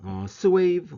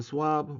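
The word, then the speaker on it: SwAV: 자, 그 다음에 두 번째 방법은 스웨이브 혹은 스왑 정도로 발음을 하는데요.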